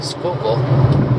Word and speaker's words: Schuylkill: And there's a place in Philly called Boathouse Row, and it's on the Schuylkill River. Yes, I said it correctly, Schuylkill, even though it doesn't look like it's spelled that way.